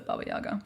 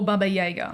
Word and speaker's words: Baba Yaga: your brief or limited understanding or of the baba yaga or baba jaeger i'm just whichever pronunciation you prefer so it's what the russian